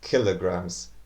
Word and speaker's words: kilograms: Actually, it's kilograms.